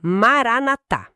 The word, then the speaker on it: Maranatha: E atenção aqui, pessoal, a pronúncia é essa, Maranatá.